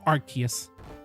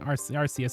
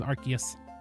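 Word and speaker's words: Arceus: It's Archus. No, pretty you're canonically incorrect about it being arcus. I'm pissed off about it as well, but it actually is Archus.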